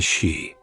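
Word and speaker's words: sídhe: The fi were known as the shei. The name is pronounced like the word she.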